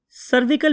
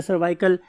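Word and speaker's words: cervical: सर्विकल भी बहुत से लोग बोलते हैं, बहुत से लोग सर्वाइकल भी बोलते हैं। स्पेलिंग आपको आने चाहिए, CRVICAL, सर्वाइकल।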